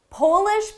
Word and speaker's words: Polish: Polish people are from the country Poland. The verb is polish. Notice the difference in the vowel.